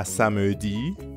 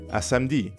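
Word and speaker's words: samedi: spoken language gets messy so instead of a samudi you're more likely to hear a french speaker say smd it means the same thing see you saturday smd now let's practice this more common pronunciation repeat after me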